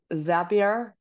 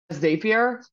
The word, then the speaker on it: Zapier: which by the way, I was mispronouncing for years as Zapier. It's Zapier, apparently. Met someone who works there. Boy, was my face red. Makes sense because they're called Zaps, but I just thought it was a little quirk.